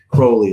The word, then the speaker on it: Crowley: I'm sorry, Crowley is how you say it correctly.